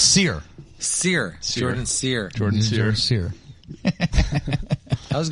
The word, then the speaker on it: Scherer: Yeah, no, it's Scherer.